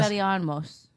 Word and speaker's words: Expelliarmus: How do you spell it? EXPELLIAROMS. L. No O, but everything else. Expelliarmus.